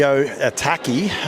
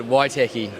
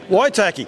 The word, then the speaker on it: Waitaki: Right, after the running of the South of the Otaki, Mark Hurrell joins me. How did I go with the pronunciation? Nah, not good. Waitaki. Waitaki. Yeah. That's better. That is better.